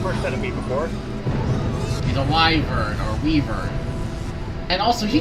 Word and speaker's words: wyvern: Anyway, as Uncle said, it is pronounced wyvern.